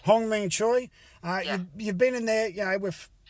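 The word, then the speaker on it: Hyun-mi Choi: Hwang-mi Choi. Hwang-mi Choi.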